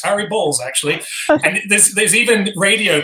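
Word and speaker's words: Harry Baals: he'd be saying it's harry balls actually and there's even radio presenters who would get a call from him mid broadcast saying this is your mayor son it's pronounced balls whenever they tried to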